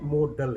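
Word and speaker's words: modal: ये मॉडल नहीं है, मॉडल है, मॉडल। कुछ लोग इसको मोडाल प्रोनाउंस करते हैं, ये रॉन्ग है, दैट्स रॉन्ग।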